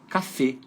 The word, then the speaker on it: Café: uma vogal aberta F é uma vogal fechada só que a sílaba tônica fica no final então fica café Olha que interessante estabelecimento